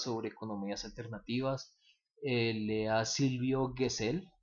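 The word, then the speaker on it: Gesell: economías alternativas lea Silvio guessell o bueno se documenta acerca Quién era ese señor Silvio guessell que cell se pronuncia gesel y pues nos vemos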